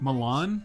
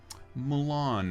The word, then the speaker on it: Mulan: Milan? Is Yeah. that how you say it? Mulan.